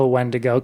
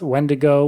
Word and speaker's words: Wendigo: the vulnerable so the physical appearance of a wendo can vary based on the different pronunciations of its name so when I was researching I found a lot of different ways to pronounce it it's wendigo wendo wendo there's so many different variations some